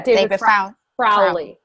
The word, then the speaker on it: David Rowley: Am I saying his name wrong? Yeah, David Rowley.